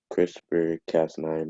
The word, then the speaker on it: CRISPR-Cas9: See, have to say that or just spell it. Just say CRISPR-Cas9. CRISPR-Cas9 might even Just come.